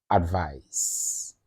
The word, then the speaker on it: advise: E so a d v i c e advise then a d v i s e advise